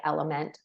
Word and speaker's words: LMNT: get it in without sugar some people like element um the one that's spelled lmnt and then the last thing is